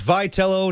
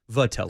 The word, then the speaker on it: Vitello: So, it's Vitello, not the way that my no would say Vatello.